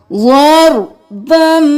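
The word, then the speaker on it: ضربا: ज़रबम bill Yamin, बन नहीं करना, बा को मीम के साथ मिलाना है।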